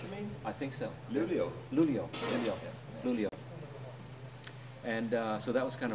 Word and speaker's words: Luleå: one in Chalmers here, and then one in Leuna, am I pronouncing that right? Another where? University here in Sweden. What's the second one? Luia. Up north, you mean? I think so. Luleå.